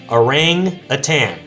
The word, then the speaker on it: Orang-Utan: discussed on this channel they're called arang aan like the ape it's spelled o r